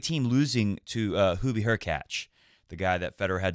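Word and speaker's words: Hurkacz: play the winner between her catch rhymes with latch and Dominic team so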